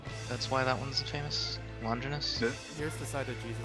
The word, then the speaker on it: Longinus: Longinus.